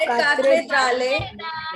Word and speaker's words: cathédrale: We are going to break the word. Cathe, Say Kathe. Kathe. Kathe. Dral. Dral. Cathedral. Cathedral. Cathedral. The Notre Dame. The Notre Dame. La Cathedral.